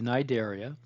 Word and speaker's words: Cnidaria: body forms of the nidaria that c is silent we say nideria describe the unique anatomical